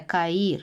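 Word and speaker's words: Cairo: дивимося зараз на екран вимовляю Кай та потім додаю е та потім Роу Тому це Каїр столиця Єгипту ось це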